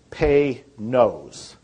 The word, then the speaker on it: Panoz: And it's pronounced, if you want to pronounce it right, it's Pay-Nose. Pay-Nose, like P-A-Y. And then N-O-S-E.